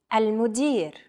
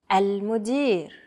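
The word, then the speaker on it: المدير: Repeat after me. Al-mudir. Al-mudir. Chances are, your pronunciation was pretty spot on. The A, L, M, U, D, I, and R sounds are practically identical to English.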